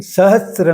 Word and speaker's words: सहस्र: दूसरा शब्द है सहस्त्र किरण ध्यान दें श्र है त्र नहीं है जैसे शास्त्र में स में त्र जुड़ा हुआ है लेकिन सहस्र में स को र जोड़ा गया है।